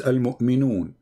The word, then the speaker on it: Al-Mu'minun: You don't know how to say the name, my friend. The name is Al-Mu'minun.